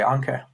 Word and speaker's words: Anke: is fine, yeah. I always say it sounds like what you attach a ship to the bottom of a seabed with.